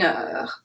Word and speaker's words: heure: So like I said before, the H is silent, so we make the connection between the number and heure.